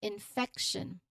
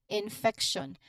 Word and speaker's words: infection: So pronunciation wise you stress on the second syllable f. So it is crucial for correct pronunciation. You say it is infection. Again infection.